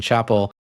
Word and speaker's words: Chapel: Well, as someone whose name is mispronounced 99% of the time is Chapel, I have to remind people that it's like Dave Chappelle, and that it tends to be the only way they can actually remember my last name.